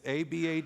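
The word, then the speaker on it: עָבַד: God's perspective really is it's Abad D all bad so how you can remember all bad is how it's pronounced numbers 439 uses it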